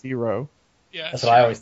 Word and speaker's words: gyro: gyro it's not a Euro it's AO it's AO gyo it's spelled with a G it's hey we're [